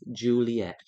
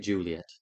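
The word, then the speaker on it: Ghiuliyette: t t e pronounced Juliet this a hard way so it's spell it they spelled it like gulet but they say it Juliet I'll spell that again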